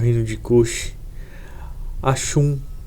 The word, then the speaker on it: Axum: o reino de Kush, Axum, né? Alguns falam Aksum, né? Enfim, a pronúncia talvez, né, cada um vai ter uma pronúncia diferente, né?